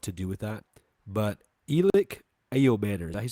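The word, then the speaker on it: Elic Ayomanor: But Elic Ao Manor, is that you say his name?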